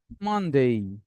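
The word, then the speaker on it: Monday: কোন ইংরেজি শব্দ এ ওয়াই দিয়ে শেষ হলে এ ওয়াই এর উচ্চারণ হবে এই। ফর এক্সাম্পল স্যাটারডে না সানডে, মানডে, Tuesday, Wednesday, Thursday, Friday না।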